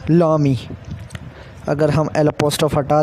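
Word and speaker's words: l'ami: The first one इज़ लामी, it's pronunciation is लामी।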